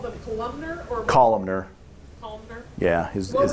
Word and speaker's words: columnar: Once again, you called them columnar or Columnar.